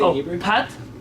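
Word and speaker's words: פת: Pat Pat. with an a, not an a. Uh, So not pot.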